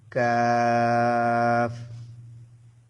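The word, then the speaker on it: ق: এতে করে আপনাদের অক্ষরগুলা বোঝা এবং উচ্চারণ করা সহজ হবে। আপনারা আমার সাথে সাথে বলুন। কাফ কাফ একটু ইয়ে করে বলতে হবে।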